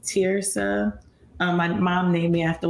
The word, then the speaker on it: Terysa: But yeah, so my name is pronounced Terysa, and that's actually like part of my book too, because a lot of people mispronounce my name. I think that it's Terysa, but it's actually pronounced Terysa.